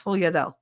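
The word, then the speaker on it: sfogliatelle: They're like, I can't pronounce that. It's sfogliadelle.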